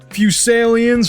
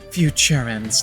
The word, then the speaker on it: Futurans: You hear that, Fusalians? We're coming for you. Dude, that word, I was like, how do I pronounce this? Oh. Futurans, not Fusalians.